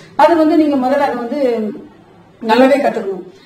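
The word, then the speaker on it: vas: நான் வான் தான் ப்ரொனவுன்ஸ் பண்றேன், ஏன்னா பிரெஞ்சுல வந்து லாஸ்ட் லெட்டர் ப்ரொனவுன்ஸ் பண்ண கூடாது. சோ விஏஎஸ் அதுக்கும் வா தான் சொல்றேன்.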